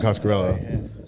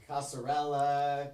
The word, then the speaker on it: Coscarello: Thanks for saying that Un- right. Nobody's ever said it right ever one time. Coscarello? Yeah. It's not that hard of a name. What is it? Italian? Tell that to Patrick Hakeem. What did he? How does he say your name? Casarella, Coscarelia. Coscarellia.